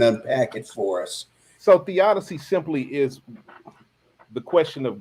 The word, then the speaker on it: theodicy: Now, Theodicy is, how do you pronounce it? Theodicy.